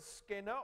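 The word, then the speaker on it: σκηνόω: The Greek word we translate in this Bible, made his dwelling, it's skenao. Skenao. There, that's better pronunciation.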